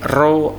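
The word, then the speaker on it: ρ: F sama dengan 1/2L akar F dibagi rho A. P seperti huruf P itu rho bacanya ya, massa jenis artinya.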